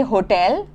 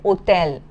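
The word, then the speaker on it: hôtel: So as I had mentioned earlier H is always silent in French. You never pronounce it. So in English we say hotel but in French you will say hotel.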